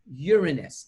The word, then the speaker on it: Uranus: Uranus is the Latin, and in Latin, you pronounce that planet by Uranus.